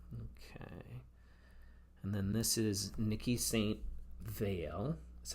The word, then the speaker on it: Niki de Saint Phalle: And then this is Niki de Saint Phalle, that's how you pronounce it.